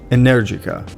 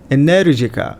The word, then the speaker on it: Energica: comes from Italian manufacturer energyca now when you go to Italy the proper way to say it is energica and you have to